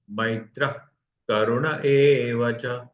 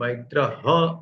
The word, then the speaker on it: मैत्रः: मैत्रः, ये मैत्र ह नहीं होगा। जनरली विसर्ग का उच्चारण ह या हा, ही ऐसे होता है, लेकिन यहाँ करुण इस शब्द में क अद्याक्षर है, उसके लिए विसर्ग का उच्चारण ख ऐसा नहीं होगा, लेकिन मैत्र, मैत्र करुण एव च, पूरे हवा बाहर चली जाएगी और उससे जो छोटा सा टिंज ऑफ ख आएगा उतना ही उसको उच्चारण करना है।